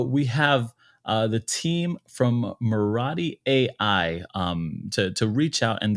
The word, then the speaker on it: Murati: Marathi, is that how it is? Yes, Marathi.